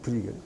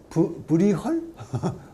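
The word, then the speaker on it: Bruegel: 이 광기학사에 단골로 나오고 그 다음에 모스 뒤에 나온 사람, 이 사람도 네덜란드 사람인데 브리겔 이런 사람, 브리겔, 피터 브리겔인데 피터 브리겔은 이제 영어식 발음이고 원래 발음을 하면 브리헐?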